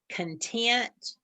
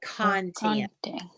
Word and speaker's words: content: The second word is, you can pronounce content or content.